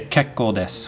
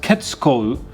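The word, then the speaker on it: けっこうです: as you can see there's a little tsu in this right here but i did not pronounce it i did not pronounce it as ketsu because the tsu is smaller than the other symbols now right here this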